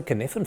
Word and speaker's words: Cynefin: It's pronounced the Cynefin framework.